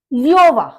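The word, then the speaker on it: Löwe: का फ्रॉग होता है योवा योवा लन शेर देखिए ओ के ऊपर उला उट आ गया तो यो की साउंड हो गई आपकी तो लिवा लन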